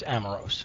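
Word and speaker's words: Amoros: joining us here in Harrisburg PA is amaros am I pronouncing your name right it's amaros amaros okay and you are the executive director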